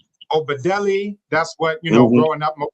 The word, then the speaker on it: Obadele: Pronunciation of my name, you're good with that, but it's Obadele. So if you look at it's a Yoruba name, but most people in the U.S.